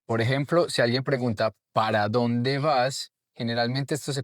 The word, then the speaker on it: para: Por ejemplo, si alguien pregunta para dónde vas, generalmente esto se convertiría como en para dónde vas. El para no se dice generalmente completo, se dice pa.